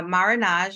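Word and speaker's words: marronage: if I'm pronouncing this right but it's like marage or what can you spell that and I can and tell me a little bit what what that is yeah uh marinaj it's spelled m a r r o n a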